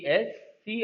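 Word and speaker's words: abscissa: ए बी एस सी I double S ए एसेस कहते हैं।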